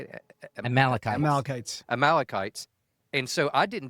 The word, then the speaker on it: Amalekites: praise to Yahweh for helping us defeat the Amalekites. How you say it? Amalekites.